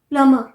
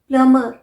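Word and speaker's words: plumber: मत बुलाइए क्योंकि प्लंबर गलत प्रोनंसिएशन है प्लबर प्लमर अब यह मत बोलिएगा कि ये भी आपको फनी लग रहा है ऐसा कुछ नहीं होता यह प्लमर ही है प्लंबर नहीं होता है बहुत साइलेंट है प्लमर प्लमर कैन यू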